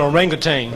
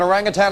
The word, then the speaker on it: orangutan: That's an orangutan. It means man of the woods, and orangutan is exactly what it is. Orangutan. People pronounce it both ways.